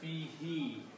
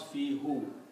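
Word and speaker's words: فيه: Also, for the easy tajweed, easy recitation, we pronounce this as fihi. We do not pronounce fihu.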